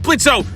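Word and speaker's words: Blitzø: No shit, I meant Blitzo. No, wait, the O is silent.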